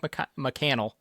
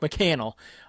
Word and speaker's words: McCannel: He added Mike Mccel. I've been saying his name wrong. I apologize. Mike McCannel.